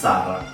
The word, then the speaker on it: Sarai: So she still kind of insists on it being pronounced Sarah. So if she introduces herself here, no, my name is Sarah. Yeah, she should. But people would see it and read it as Sarai.